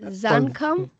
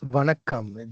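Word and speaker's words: வணக்கம்: Is it Zankam? It's Vanakkam.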